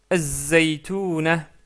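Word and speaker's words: الزيتونة: Az-zaytuna, az-zaytuna, car la lettre zay est une lettre solaire.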